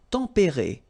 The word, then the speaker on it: tempérés: Les climats tempérés. Final S not pronounced, but then you should definitely pronounce the accent.